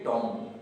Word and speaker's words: tomb: तो यहाँ पर इसे हम टॉम नहीं बल्कि में पढ़ेंगे टॉम।